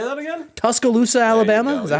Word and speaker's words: Tuscaloosa: Tuscaloosa, Alabama?